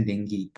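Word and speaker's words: dengue: demam berdarah denggi ya ini dengu Ini bacanya denggi Ya ee Ini ada arbovirus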